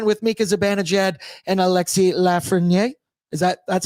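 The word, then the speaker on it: Lafrenière: Bread boy are Tammy Paneran with Mika Zabanaged and Alexi Lafren. Is that that's how you say his name, right? Lafrenier. Lafrenier.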